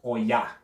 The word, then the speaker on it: Oya: And Oya.